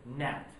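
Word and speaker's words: gnat: Rose my hand and I said Nat with a silent G and all of a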